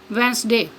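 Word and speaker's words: Wednesday: next है silent D डी इज not pronounced D pronounce नहीं किया जाता या डी नहीं देता इन the following common words मुद जल आम अल्फाज में for example hand करर chief वेनसडे next है साइलेंट ई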